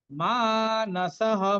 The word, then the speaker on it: মানসঃ: উইঘ্ন, শোক সৌবিঘ্ন মানসঃ, মানসঃ মাটা দীর্ঘ হবে, শেষে বিসর্গের পরিবর্তে ভয়ের মতো উচ্চারণ করবো আমরা।